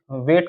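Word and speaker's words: weight: आठ डब्लू ई आई जी एच टी जी वेट का मतलब होता है भार एफ ओ यू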